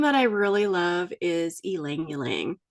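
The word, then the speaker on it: ylang-ylang: I really love is El langang it's spelled y l a n g but that y you pronounce like an e so El langang it's a beautiful little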